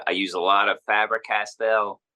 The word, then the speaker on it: Faber-Castell: use a lot of fabric Castel or uh I guess it's pronounced faber-castell uh felt tip pens I